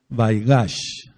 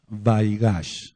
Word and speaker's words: Vaigash: de debemos de conocer la par se llama vaigash vaigash se escribe ve chica a i g a c